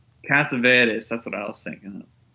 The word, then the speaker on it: Cassavetes: Killing of a Chinese Bookie, that's John Cassavetes. Cassavetes, that's what I was thinking of. Cassavetes. John Cassavetes. He's from New York, and the name is Greek origin. So Yeah, so I said it right.